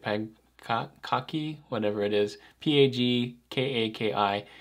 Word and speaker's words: Pagkaki: This one's called Pagkaki. I think that's how you say it, Pagkaki, whatever it is, P-A-G-K-A-K-I.